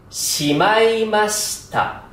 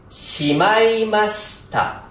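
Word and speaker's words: しまいました: 音楽が聞こえますしまいましたの発音はまいりましーがアクセントですが最後の子は少しだけ下げますまだ同氏はいつも通り中の部分を強く発音します正しい髪を宿題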